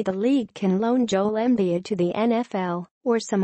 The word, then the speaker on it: Embiid: Los Angeles it rhymes with indeed or friend in need the NBA has enough under twenty five stars to fill up several red carpets maybe the lead can loan Joel embiid to the NFL or